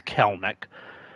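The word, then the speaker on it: Kelenic: Yeah, it's uh Keleneck is pronounced. I thought it was like Kell Kellen Neck or you know that sort of thing. It's Kelneck and he's still playing.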